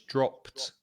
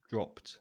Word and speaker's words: dropped: so it's ed but be careful of the pronunciation because it's a plosive sound with the p then the final e d is pronounced so it's dropped dropped yes it's like stop